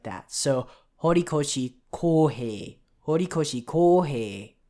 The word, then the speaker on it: Horikoshi Kohei: It's Horikoshi Kohei. Horikoshi Kohei. The author's given name, both of the syllables are long, so that's Kohei.